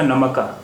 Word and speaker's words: नमक: काफ साकिन से मतलब होता है कि इस पर जज़म है, इस पर ज़बर नहीं है, क्योंकि अगर इस पर भी ज़बर होता तो इस लफ्ज़ का उच्चारण या प्रोनाउंसिएशन या तलफ़ुज़ होता नमका, नमका।